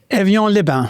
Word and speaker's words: Évian-les-Bains: en fransk kurort vid Genävsjön som du får uttala Clas. Evjan Liban.